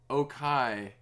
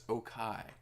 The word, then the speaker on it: Okai: Like, I kept saying, Okai. Okai's name is spelled the way I would say okay. Like, affirmative, yes. And so I kept saying, oh, it's okay is here, but it's Okai.